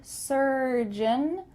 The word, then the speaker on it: surgeon: but make sure that when you say the word surgeon surgeon the end of that word is beautifully pronounced and it's kind of swallowed surgeon surgeon or if